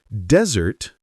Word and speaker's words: desert: But desert stress on the first syllable means a dry sandy place.